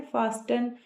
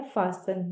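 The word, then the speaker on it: fasten: इसे बहुत से लोग बोलते हैं फास्टन। क्योंकि वो इसे इस तरीके से समझते हैं कि एफ ए एस टी फास्ट और इ एन का मतलब अन तो वो इसे पढ़ते हैं फास्टन। लेकिन इसको बोला जाता है फासन।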